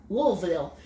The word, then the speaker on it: Louisville: Louisville. Yeah. How can you say it right? Louisville. It's like L-U-L. Okay. L-U-L. Louisville.